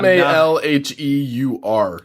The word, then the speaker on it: Malheur: The Malheur? Yeah, Malheur, National Wildlife Refuge.